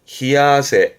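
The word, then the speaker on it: 冷や汗: 발음은 히아세.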